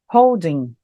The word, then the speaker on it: holding: Toda vez que eu tiver um verbo mais o ing, o G não tem som. Então, simplesmente ficaria holding, holding. Nunca vou pronunciar o G, holding.